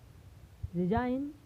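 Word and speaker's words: design: यह साइलेंट। जैसे साइन, डिजाइन, बेनाइन।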